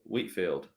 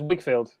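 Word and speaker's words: Whigfield: Yeah, I can't see anything on this Wikipedia article about him marrying Wheatfield. No, it's Wigfield. I think it's spelled a bit funny.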